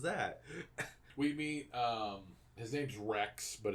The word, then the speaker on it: Wrecks: His name's Rex, but it's spelled W-R-E-C-K-S.